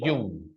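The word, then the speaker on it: Jung: lo mismo Este es de yun car gustav yang o de yun como quieran llamarlo no yun O yang Okay decíamos por ahí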